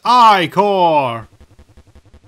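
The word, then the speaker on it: ichor: fill it with my magical eye core that's pronounced i core choose your eye core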